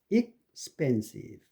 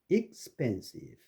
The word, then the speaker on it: expensive: 자음 발음이 바로 뒤에 올 때 expensive, expensive, expect, explosion. 그러니까 expensive에는 그 펜에 액센트가 있고 EX에는 액센트가 없죠. 그래서 expensive.